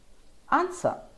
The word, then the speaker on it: answer: realize in words like two sword answer you don't hear the w at all well there you have